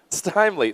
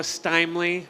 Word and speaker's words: Steimle: Steimle, like smiley. All right. Joshua is going to be introducing GOODPATCH for us. Thank you so much. Thank you. So once again, I'm Joshua Steimle, rhymes with timely, and I'm the founder